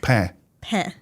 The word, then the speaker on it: pain: our title that's okay p a p just say this p p that's that's all you have to say okay I know it sounds funny at first but but the N you don't pronounce the N at the end so p a p